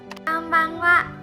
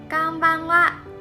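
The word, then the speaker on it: こんばんは: And the last character is ha, but we also pronounce it as wa.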